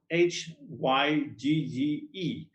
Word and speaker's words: hygge: happiness we also have another word called hooker which is very difficult to pronounce spelled h y g g e and it's the same uh hygge it leads to happiness